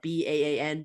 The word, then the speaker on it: BAN: benevolent artificial anti-natalism uh b-a-n ban I think is how you pronounce the acronym uh which I have